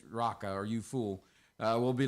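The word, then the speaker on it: Raca: I ever preached correctly, that word there is R-A-K-A. And I pronounced it Rika. And there was a lady in the audience named Rika. And it's actually Raka. So, Raka, right?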